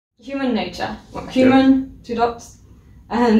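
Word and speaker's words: Human. :II: Nature.: But the album should be pronounced human nature.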